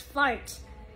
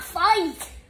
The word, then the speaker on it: fart: And tomorrow we will pronounce fart.